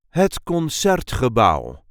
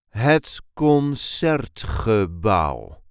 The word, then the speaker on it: het Concertgebouw: This is the way we say het concertgebouw. Het concertgebouw. There is a light emphasis on the second syllable of the second name.